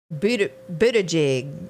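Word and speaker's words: Buttigieg: as mayor pete and i'm going to say his last name wrong buddha jig i think that's how they say that i'll never get that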